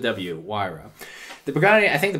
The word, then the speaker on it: Huayra: these are saying now now that just pronounced with w-why row the Pagani I think